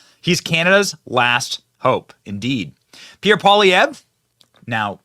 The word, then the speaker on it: Pierre Poilievre: I just heard him say Pierre Poilievre. Pierre Poilievre. I'll try my hardest to pronounce the names correctly.